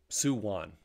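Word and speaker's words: Samhain: Festival of uh what did they call it suwon how was it pronounced yeah Su won spelled s-a-m-h-a-i-n pronounced suwon and they talk about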